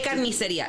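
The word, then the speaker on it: carnicería: Say carniceria. Any one of you. Carniceria. Carniceria. Oh, God. Carniceria. You're supposed to roll your R's and shit.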